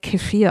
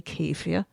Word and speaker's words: kefir: Some foods that support good gut-brain health are probiotic-rich foods like yogurt, kefir, Some call it kefir, I think, over here, but I use the German pronunciation, and we used to say kefir.